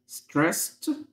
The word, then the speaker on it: stressed: stressed طبعا الدي هنا بتنطق ت.